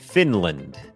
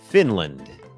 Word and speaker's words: Finland: คอร์ส ฝึก ออก เสียง ฟินแลนด์ อ่าน ว่า Finland Finland โอเค อัน นี้ บ่ง บอก ว่า อ่า จำ ได้ มย อัน นี้ ก็ เน พยางค์ ขึ้น สูง fin พยางค์ ไม่ เน้น land Finland Finland เหมือน กัน ครับ ชุม